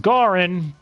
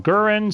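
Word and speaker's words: Gauron: I think his name is actually pronounced Garin but sometimes they call him gurin sometimes they call him gaurin I don't even think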